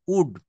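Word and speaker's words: would: আমরা ডাবলিউ ও এল ডি উড বলি এটা নট এটা উচ্চারণ করতে হবে ডবলিউ ও ইউ এল ডি উড এখানে আবার এলটা কিন্তু সাইলেন্ট থাকবে তো দেখেন এখানে কিছু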